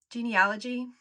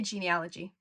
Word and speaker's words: genealogy: are some genuinely fantastic genealogy resources. Genealogy, it's said both ways. I'm going to try to say genealogy, because I think genealogy is the US pronunciation.